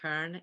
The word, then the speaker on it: Köln: going to say Cologne, I think it's pronounced Köln in Germany.